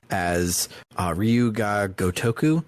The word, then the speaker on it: Gotoku: 2 as Ryu ga Gotoku. I always trip up the syllables in Gotoku, and I do like Gotuko, Gotoko, something like that. I don't know why it trips me up. Gotaku.